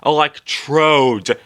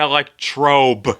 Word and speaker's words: electrode: all you need oh and is pronounced electrode not electr you idiot green is not